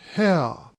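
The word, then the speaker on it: Haigha: happy his name is ha he pronounced it so as to rhyme with mayor I love my love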